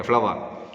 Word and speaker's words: flour: Okay, flour. Like a flower, okay, that's same pronunciation.